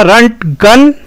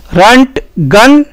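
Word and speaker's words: Röntgen: तो ये बंदा बेसिकली जर्मन था और इसकी जर्मन भाषा में जो उच्चारण होगा इसके नाम का वो होगा रंट गन। रंट गन और इस बंदे को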